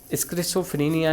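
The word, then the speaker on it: schizophrenia: मनोविदालिता यानी कि स्किज़ोफ्रेनिया, इसका प्रोनाउंसिएशन स्किज़ोफ्रेनिया है यानी कि स्किज़ोफ्रेनिया, एवं उत्साह विषाद मतलब मैनिक डिप्रेशन से ग्रसित व्यक्तियों के परीक्षण के आधार पर किया।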